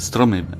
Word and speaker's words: Strom: trees right absolutely yeah we have to pronounce it Strom there is no other way doing it so Strom Ensemble is quite